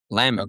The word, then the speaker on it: Lemann: of like talking about, pronounced like a garnish in a cocktail. Oh, Lemon.